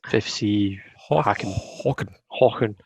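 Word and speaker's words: Häcken: BK Hacken, is that how you pronounce it? Yeah, it's BK or FFC Hacken.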